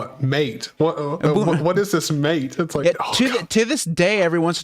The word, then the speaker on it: MATE: open souza um so uh some of the pronunciations of things are weird so like if you use ubuntu ubuntu mate it's mate it's it's that's the way they i love